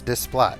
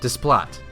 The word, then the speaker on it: Desplat: I I think it's Desplot. Desplat.